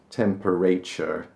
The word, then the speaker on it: temperature: It looks like it should be pronounced temperature.